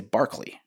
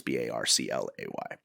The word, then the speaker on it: Barclay: last name's Barclay and everybody wants to say Barkley, or they want to spell it Barkley, but it's Barclay.